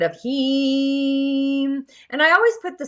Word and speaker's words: Ham: It's the seed sound of Heem. And I always put the sound in the show notes. It's spelled H-A-M, but it's the E in sleep in the tonality.